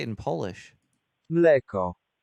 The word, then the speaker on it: mleko: Mleko. Mleko.